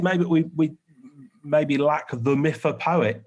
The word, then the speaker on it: mythopoetic: Maybe we maybe lack the mythopoetic. Poet? How do you say that? It's mythopoetic. Mythopoetic.